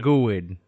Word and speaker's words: GUID: GUID is, the East Coast pronunciation. GUID, like Druid. On the West Coast we say GUID. A Druid GUID.